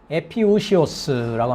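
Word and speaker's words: ἐπιούσιος: 뭐라고 읽냐면 에피우시오스라고 합니다.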